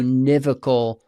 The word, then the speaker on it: univocal: Those who aren't in on the joke, he meant to say univocal. Yes. But he put the emphasis on the wrong syllable.